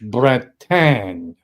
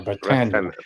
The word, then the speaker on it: Bretagne: And I think it's pronounced in French Bretagne or Bretagne.